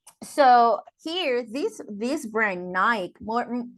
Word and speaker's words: Nike: the Nike um Nike it's pronounced Nike okay Nike is squash